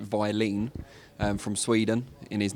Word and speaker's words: Wallin: to be fighting otto i think he pronounced it violin and from sweden in